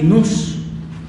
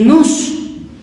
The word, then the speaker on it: nous: de este término son dos meta y luz se escribe no nous N O U S meta y nos y fíjese aquí el luz quiere decir mente